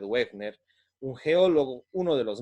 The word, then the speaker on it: Wegener: sí Alfred wegner sí Alfred se escribe Alfred wegener pero creo que se pronuncia Alfred wegner un geólogo uno de